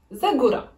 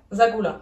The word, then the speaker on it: Zagora: Maintenant, dites Zagora. Zagora. Zagula.